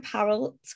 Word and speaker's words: Parul: intro on myself i'm parallel it's pronounced like carol but with a p and my pronouns are